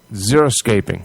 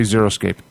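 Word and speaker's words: xeriscaping: We'll be discussing uh okay it's spelled X E R I S C zeroscaping. I'm going to say zeroscaping in New England as well as other gardening topics.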